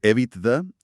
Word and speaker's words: EBITDA: Cuando hablamos de EVITDA, eh, que por cierto lo pronunciamos generalmente con su entonación en inglés, nos referimos a unas